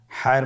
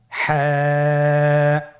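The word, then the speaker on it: ح: হা হরফটি উচ্চারিত হবে কণ্ঠনালীর মধ্যখান হতে। গলা চিপে ধরে আপনি উচ্চারণ করুন। আপনারা আমার সাথে বলুন হ্যাঁ।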